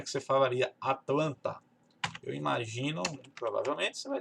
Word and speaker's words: Atlanta: palavra, ele não fala Atlanta, fala Atlanta, Atlanta. Até parece que esse T não existe. Parece que ele vai comer esse T aqui e fica Atlanta.